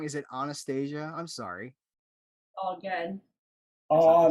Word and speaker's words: Anastasia: into the film fun am i saying your name wrong is it anastasia i'm sorry all good oh anastasia not anastasia all right we're going to start over and